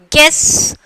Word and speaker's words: guess: Guess. Here we are not pronouncing U. So, here U is the silent letters.